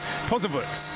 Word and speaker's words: Posewitz: Yes, we're indebted to Johannes Gauglica for passing us through the correct pronunciation. Peter Posewitz.